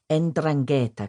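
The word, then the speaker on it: 'Ndrangheta: Nan was a pure bloodline Sereno, born in Reio Calabria to one of the legendary Endrangetta clans that make up the Calibrian mafia. pronounced endrangetta.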